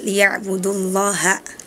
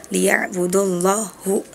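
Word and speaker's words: لِيَعْبُدُوا اللَّهَ: Nah, tadi salah harokat. Harusnya liya'budullaha. Tadi Azril bacanya liya'budullahu. Ya, harusnya fathah tapi malah dibaca dhammah.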